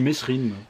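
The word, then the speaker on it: Mesrine: Je dis Messrine. Mais je crois que ça se prononce Mérine.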